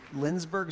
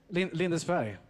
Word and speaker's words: Lindesberg: So you're from, is it Lindsberg, Sweden? Is that how you say it? Lindesberg. I was close.